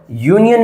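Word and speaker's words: union: यूनियन में क्या है हमारा? यू हमारा वोवेल है। लेकिन साउंड कोसोनेंट की इसलिए हम लोगों ने यूज़ कर लिया ए।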